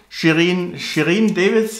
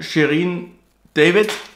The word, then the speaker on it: Shirin David: Und nun wird Shirin Davis, oder wie sie heißt, bei Shirin David, sorry, meine Aussprache, werde ich erstmal die Haube vom, die